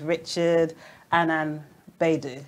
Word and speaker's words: Richard Annan-Baidoo: His name is Richard Annan-Baidoo. That's right. Yes, that's right. I pronounced it right.